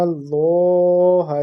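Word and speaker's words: الله: Alam ya'lam bi anna Allah yara. The lam of isme jalalat would be pronounced in a thicker voice because there is a zabar before that lam of isme jalalat Allah.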